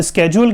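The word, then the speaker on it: schedule: चलिए अब स्केड्यूल की बात करें, इसका राइट प्रोनाउंसिएशन स्केड्यूल होता है, लेकिन हम इसको शेड्यूल बोलते हैं, हम इसको टेबल बोलते हैं, टेबुलर प्रेजेंटेशन बोलते हैं, सब चलता है, राइट।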